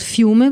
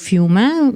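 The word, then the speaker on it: Fiume: means River um while in Italian it's called fume which means the same thing and in English when speaking in English we can use both uh terms Rea or fuma different authors make different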